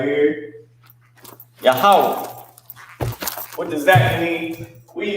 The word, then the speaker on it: Yahweh: Yahweh. What does Yahweh mean? All right, because this is the Hebrew word for where we're at right here. Yahweh.